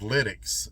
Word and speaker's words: Lytx: The next one is called Lytics, and that's spelled Lytx.